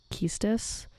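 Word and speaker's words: Quistis: let's begin because they said you'd pronounce the beginning of it almost like quiche like the way it's spelled and so i think that's why it would be keistes oh i get to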